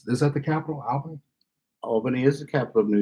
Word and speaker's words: Albany: Albany is the capital of New York. I said it wrong. It's like aunt and aunt. No, well, aunt and aunt. Either way, pronunciation is correct. He says Albany.